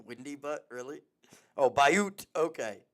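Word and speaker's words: Butte: Butt. Windybutt. Really? Oh, Bayoot. Okay. It's like beautiful.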